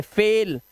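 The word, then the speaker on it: fail: देखो बाइल नहीं पढ़ेंगे इसे बाइल बेल फाइल नहीं पढ़ेंगे फेल हाईल नहीं पढ़ेंगे हेल और माइल नहीं पढ़ते इसे बोलते हैं ईमेल जैसा मेल ईमेल मेल देख रहे हो आप ये रूल्स हैं।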